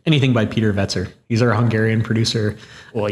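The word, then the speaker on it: Wetzer: Vetzer.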